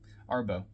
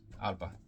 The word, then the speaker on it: Arbo: Arbo. It's spelled A-R-B-O, but it's Arba.